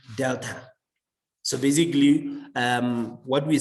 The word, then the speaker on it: delta: call it uh this symbol this is uh pronounced delta so basically um what we're saying that we